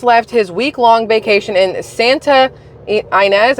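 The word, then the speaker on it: Santa Ynez: his week-long vacation in Santa inz I think it's how you say it y n EZ in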